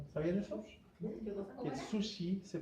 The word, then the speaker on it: sushi: de hecho va a ser sushi, o sushi, o realmente se dice, no con ch, como decimos nosotros. ¿Sabían eso? Que el sushi se pronuncia sushi.